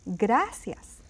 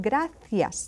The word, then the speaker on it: gracias: you doing you say gracias gracias gracias now in Spain you might hear saying graas that c can be pronounced as a th sound graas is just the